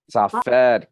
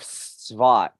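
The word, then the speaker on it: Tzfat: Safed, close. This is the city of Svat, and the Jews, Svat, yeah, the Jews spell it Tzfad.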